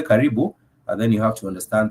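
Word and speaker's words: karibu: you do say kibu you do say kibu k a r i b u k that is the word with three syllables K and kibu simply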